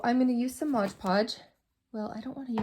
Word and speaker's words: Mod Podge: going to do is Modge Podge or Mod Podge I guess is how you pronounce it um pink or